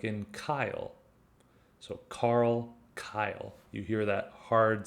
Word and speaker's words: Carl: example in group a has a hard c sound in other words it's pronounced just like a k like in kyle so carl kyle you hear that